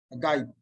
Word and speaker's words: Hegai: Primero estaba con una kamat Hege y luego una patah Hegai. La patah deriva de la palabra petah, que significa apertura. Para pronunciar la vocal patah se debe abrir la boca. Por el contrario, kamat significa cierre. Y a fin de pronunciar esta vocal en la pronunciación askenazí, la boca debe de estar en una posición cerrada.